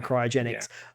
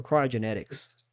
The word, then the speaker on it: cryogenics: tactics and whatnot for cryogenics. But I'm not even saying it right. Is it cryogenics or cryogenetics? Cryogenics. Okay, cryogenics. Okay. Like cryogenic storage.